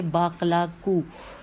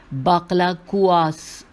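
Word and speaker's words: باقلا: बाकलाकुआस, ये मैं गलत पढ़ रही हूँ भाई, बहुत कुछ गड़बड़ कर रही हूँ मैं, दोबारा हिज्जे करती हूँ। बे अलिफ बा काफ लाम अलिफ काफ वाव ओ, बाकला को उसकी खाल के साथ खाओ, ये मैदा साफ़ करता है।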